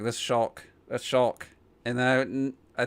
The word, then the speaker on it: Shulk: i didn't record mine within the first two syllables i was like this shulk a shulk and i i think even clocked it took them a while before but i thought it was show but if i mean i didn't want to